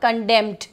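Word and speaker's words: condemned: कंडेम एक verb है जिसका सेकेंड फॉर्म और थर्ड फॉर्म हो जाएगा कंडेम्ड। मैं फिर से प्रोनाउंसिएशन बोल रही हूँ, इट इज़ कंडेम्ड। तो एन तब भी इसमें साइलेंट रहने वाला है।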